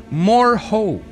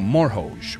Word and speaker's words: M'rohoj: Series this was called more ho no more Hoge or more of the J is silent but I believe it